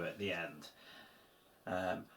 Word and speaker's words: i: And as you can see, I've just squeezed in there the Polish word for and, which is simply the letter i, but obviously pronounced e like in ski.